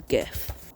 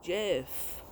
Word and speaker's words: GIF: Okay, the next one is GIF. No, it's GIF. Okay, let's clear this up. Both GIF and GIF are used. Both are listed in dictionaries, while the creator Stevie Wilhoit insists it is pronounced GIF.